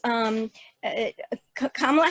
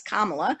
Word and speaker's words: Kamala: one source said that it was chosen because it told them how to pronounce Kamala, and it's a good reminder of how to pronounce her name.